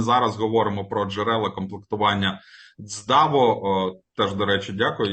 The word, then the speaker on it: ЦДАВО: говоримо про джерела комплектування даво теж До речі дякую Я сьогодні дякуючи пані Ларисі дізнався де ставити наголос тому що я ставив наголос на dво виявляється правильно говорити даво ставичи наголос на архіва Окей теж певне досягнення